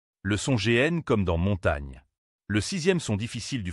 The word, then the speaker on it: montagne: Mais en réalité en français, GN se prononce comme un seul son doux et lié.